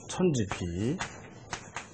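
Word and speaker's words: 否: 이제 비계가 된다는 말이죠 천지비 예 이걸 부라고 읽으면 안 된다 그랬죠 주역에서는 그죠 그다음에 또 뭐가 나오죠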